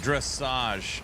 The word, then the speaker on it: dressage: She said it's pronounced dressage. It's English.